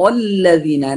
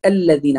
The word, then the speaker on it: الذين: الذين أيضا حرف الذال، لا بعضهم وأكثر، وقد سمعت كثيرا يقول الذين أنعمت عليهم، هذا حرف زاي ليس ذال، فنقول صراط الذين، الذين